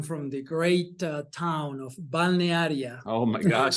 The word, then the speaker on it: Balnearia: But in fact, I'm from the great town of Balnearia. Oh my gosh, spell that, everybody.